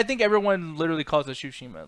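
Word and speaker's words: Tsushima: it but it's like it's like shoe Shima it's like think of like a shoe but problem is the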